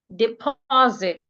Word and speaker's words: deposit: We have the word deposit. Deposit. We have the word banana. Banana. So for these type of words, we are stressing their second syllable.